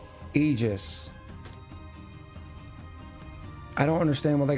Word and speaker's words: Aegis: pronounced like you pronounce ether. So, Aegis.